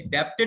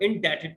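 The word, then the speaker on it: indebted: ये डी ई जो बीच में वर्ड दे रखा है ना, डेटेड है, डेप्टेड मत बोल देना। बी का साउंड साइलेंट होता है यहाँ पर, और क्यों होता है उसको हम आगे बात कर लेंगे।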